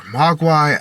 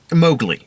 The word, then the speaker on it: Mowgli: Well, there's one main character I haven't spoken about at all, and it's fucking Mowgli. Or Mogwai, I don't know. Mogwai's from Gremlins. Mowgli. Mowgli's his name.